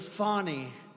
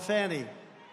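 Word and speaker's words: Fani: been destroyed because of Fonnie, F-A-N-I, Fonnie. You have to pronounce it Fonnie. It's called Fanny. You have to pronounce Fonnie. I don't know how she gets. She should add a little U in there someplace if she wants people to call her.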